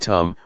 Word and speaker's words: dhamma: we see this now the dhamma in Thai pronounced in the same way as the word tum which means to do